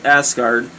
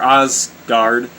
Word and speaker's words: Asgard: and secret palace of asgard that's a funny way of pronouncing it but that's like the only way i can see it's uh or ozgard a-s-g-a-r-d so i mean i know it sounds